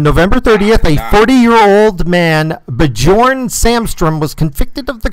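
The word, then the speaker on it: Björn: Bjorn, the J is pronounced as a Y, so it's Bjorn.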